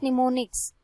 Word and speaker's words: mnemonics: The English like words known as निमोनिक्स, pronounced as निमोनिक्स।